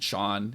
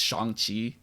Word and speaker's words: Shang-Chi: telling katie that his name isn't sean it's shangqi and the fact that